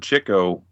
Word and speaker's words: Chico: people don't know that Chico is pronounced Chico but it's it's because he was always going after the chicks yes yes he is not Chico yeah it's chicle he was a womanizer